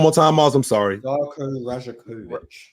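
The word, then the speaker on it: Rajaković: his name one more time Mo I'm sorry rajakovic rajakovic so so so we're we're at those two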